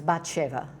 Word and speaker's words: Bathsheba: Yeah, who we do with the Hebrew pronunciation, so it's Bathsheba.